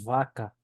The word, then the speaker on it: vaca: v se pronuncia pronuncia como una B vibrada y con un ligero soplido Entonces tenemos por ejemplo la palabra vaca vaca vaca muy bien